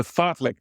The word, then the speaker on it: fartlek: The fartlek training. It's exactly as it's spelled, F-I-R-T-L-E-K, which is speed play, which incorporates for running or anything you're doing, a fun element.